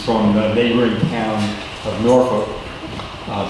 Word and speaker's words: Norfolk: Ryan Bachman, who's from the neighboring town of Norfolk. Did I pronounce that right? You pronounce it the right way, but not the way that you say it. How do you say it in Norfolk? Norfolk.